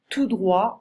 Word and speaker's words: tout droit: à droite à gauche tout droit on ne prononce pas le thé tout droit d'accord traversée stu cross